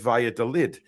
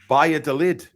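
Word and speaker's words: Valladolid: with the pronunciation of Via de lid in Spain V is pronounced like a b and a double L is like a y heads Via de lid it is it's yeah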